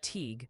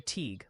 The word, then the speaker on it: Teague: It's Teague for Teague, like league, and Reading, PA.